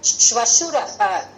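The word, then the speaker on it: श्वशुरः: Okay, Shvashuraha. Please note this pronunciation. It is swash, ish, va, shu, ra, ha.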